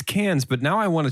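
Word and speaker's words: Cannes: circle back and check did you say the keynes film festival yeah i always pronounce it wrong it's cans but now i want a chicken festival that's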